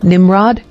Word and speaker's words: Nimrod: origin Hebrew nimravid meaning Rebel or CH Rebel pronunciation Nimrod Bible verse Genesis 1089 ESV Kush father Nimrod